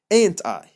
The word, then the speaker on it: aren't I: خلاص يبقى انا بكتبها aren't بس منطقها ain't، يبقى I'm late تبقى ain't I. خلاص اتفقنا بكتبها aren't I بس بنطقها ain't I.